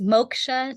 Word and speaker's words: Moksha: And how do you pronounce your practice? Because I don't want to say it wrong. Oh, sure. It's Moksha Natural Wellness.